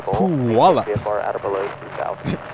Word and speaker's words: Puyallup: Ah, it's pronounced Puyallup.